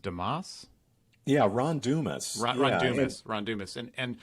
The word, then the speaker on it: Dumas: Is his name pronounced Damas? Yeah, Ron Dumas.